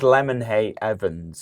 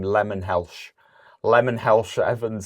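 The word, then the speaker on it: Lemonheigh-Evans: His name is Lemonhay Evans. Yeah. And I think he was calling him Lemon Helsh Evans.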